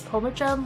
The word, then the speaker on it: Pomachan: It's Pomachan, like Edgar Allan Poe, Okay, Chun, sorry. Chun-Li, and you get the rest.